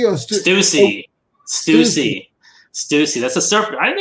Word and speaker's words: Stussy: Stussy or Stussy.